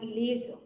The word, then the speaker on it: LZR: The LZR Racer, pronounced as laser, they are a line